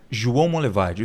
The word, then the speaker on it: João Monlevade: João Monlevade. Duvido se eu conseguir pronunciar corretamente. João Monlevade?